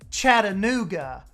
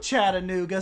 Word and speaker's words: Chattanooga: here like in tennessee where you would say chattanooga like okay we're gonna go to the chattanooga aquarium but people from chattanooga say chattanooga they don't do the ta like